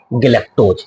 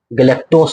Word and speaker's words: गैलक्टोज: और गैलेक्टोज ये ज को उच्चारण लेता है सॉरी गैलेक्टोज नहीं है गैलक्टोज है तो मोनोसैक्राइड कितने प्रकार